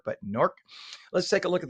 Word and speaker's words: Newark: Notice the local pronunciation of NORC. That's the way they pronounce it. NORC, not Newark, but NORC.